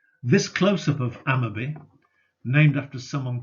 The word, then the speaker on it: Amotherby: Slingsby, close to Hotham, and Amotherby, pronounced Ammerby, further east. The first parts of these three names, the specifics, are all Old Norse personal names. This close-up of Ammerby, named after someone called